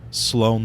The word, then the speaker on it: Sloan: about the name yes I know Sloan the record does not rhyme with on the record but we're just